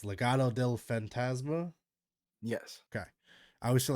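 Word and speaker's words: Legado del Fantasma: want to learn how to say it it's Legato Del fantasma yes okay I always feel like I butcher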